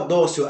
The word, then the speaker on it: dócil: Kelly e a sua sílaba tônica é a penúltima dó dócil perceber então dócil você não desafio você disse dócil Então como você diz dócil penúltima sílaba nós assento anos terminados